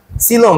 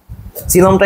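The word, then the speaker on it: coelom: শিখতে হবে আমাদের বইয়ে সিলোম নিয়ে আসলে কথাবার্তা বলা আছে বেশ সিলমটা ইম্পর্টেন্ট কেন কারণ দেখো প্রথমে আসি সিলমটা একটু অন্যরকম সবার থেকে সিলমের বানানটা কি সিলোম সি এল ও এম হবে কিন্তু মাঝখানে একটা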